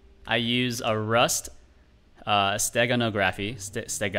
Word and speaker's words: steganography: st how do you how do you pronounce this word by the way stegonaga free this sega nography can i can i can i have a pronunciation google steganography steganography uh yeah